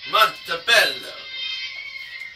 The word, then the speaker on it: Montebello: Montebello. Pronouncing it the Italian way.